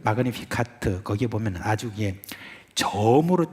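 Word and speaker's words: Magnificat: 제가 지금 이렇게 발음하니까 여러분 왜 잘난 체 하느냐 그런지 모르겠는데, 우리 같이 해요. 그러면은 마그니피카트.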